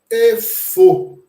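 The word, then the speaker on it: איפה: Efo. Efo. Né? Geralmente, o Yud, nessa expressão, nesse conjunto, ele não é pronunciado.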